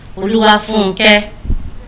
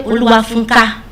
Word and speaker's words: Oluwafunke: And I couldn't even pronounce my Yoruba name, Oluwafunke. Back then, I would say Oluwafunka.